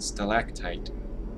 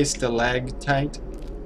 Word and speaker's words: stalactite: is stalactite stalagmite and stalactite i guess i've been saying it wrong since i was a child well it's never too late to learn did anyone else say stalag tight instead of stalactite so i got 12